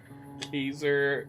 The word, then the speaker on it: Caesar: Ker is apparently the old pronunciation of the actual name.